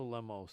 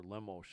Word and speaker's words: Lemos: do you think angela lemos or lemosh i think as they pronounce it has been just slaughtering